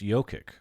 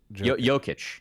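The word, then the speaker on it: Jokić: I guess it's pronounced Jokic, not Jokic.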